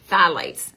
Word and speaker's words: phthalates: phthylates now it's it's spelt p-h-t-h-a-l-a-t-s but it's pronounced phthalates okay studies have linked phthalates to hormone changes